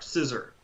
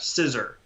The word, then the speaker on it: scissor: and british english in in american english for instance we tend to pronounce that r quite strongly even when it's at the end of a word or after a vowel so you hear that